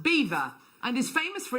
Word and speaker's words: Belvoir: messaging in saying that belvoir is actually pronounced beaver famous for its castle cafe hi carol belvoir is pronounced beaver and is famous for